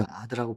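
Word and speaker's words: עד: 히브리 아드라고 부르는데 발음이 그렇습니다.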